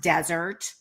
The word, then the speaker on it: Dessert: and it's actually pronounced desert which spelled dessert but pronounced desert and it was i